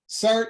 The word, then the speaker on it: SART: do you spell that cert is s-a-r-t it's the society for advanced reproductive technique and the acronym is cert okay yeah wonderful and